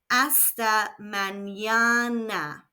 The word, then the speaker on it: Hasta mañana: Again, we have a silent H and the N has a virgulilla over it, which adds a Y sound after the N. Hasta mañana.